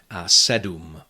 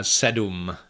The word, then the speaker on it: sedm: However, that is actually syllabic M in Czech, and it is sometimes pronounced in numbers 7 and 8. Sedm, osm, and words derived from these numbers, like sedmnáct, osmnáct, sedmdesát, osmdesát. Unfortunately, this goes only for very formal pronunciation of these numbers, and so normally you